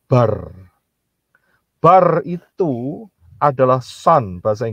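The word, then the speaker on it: בר: Beth dan Resh itu kalau dijadiin satu, itu bacanya bar.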